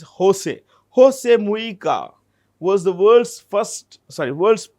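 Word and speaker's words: José: In Spanish, the J is pronounced with an H. So it's not Jose, it's Jose.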